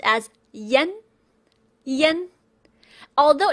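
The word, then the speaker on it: ian: I A N in pinion is pronounced as Yen.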